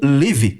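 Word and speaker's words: לב: Na língua hebraica, a palavra coração é formado por duas letrinhas, pronunciadas como leve.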